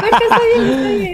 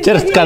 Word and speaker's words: Bershka: Más Rocha, que no sé pronunciar el perico. No, Bershka. Cherska, dice Cherska.